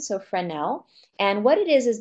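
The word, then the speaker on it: Fresnel: before it's called a friend el prism the S is silent so friend nel and what it is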